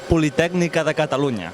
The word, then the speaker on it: Catalunya: Let's meet the team and give me the correct pronunciation in full huge big Spanish. You ready? I'm ready. Give it to me. Catalunia.